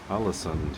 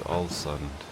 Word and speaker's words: Ålesund: And now back to open waters and to Ålesund, is I think how you say it. It sounds like Allison.